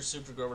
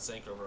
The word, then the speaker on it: Super Grover: don't be mad and i know you're super grover not sank over i'm sorry for getting